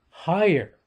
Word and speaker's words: higher: Higher, okay? H-I-G-H-E-R. It's a word of two syllables. Which syllable gets the stress? The first one, right? Because you could hear me say that, higher.